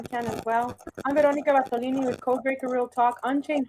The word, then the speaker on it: Bartolini: My next today are is it Veronica Bartolini?